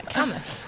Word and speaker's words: Cambois: So I got distracted reading the comments, saying you're getting the pronunciation of Camus correct. You're learning. Yeah, Camus. Yeah, I made that mistake last year.